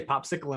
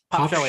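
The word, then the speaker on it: Pospischil: So how do you pronounce Jake's last name? Yeah. Sorry. I say popsicle in my head, but Yeah, It's no Pop disrespect Shelly. intended. What is it? Pop What Shelly. is it? Pop Shelly.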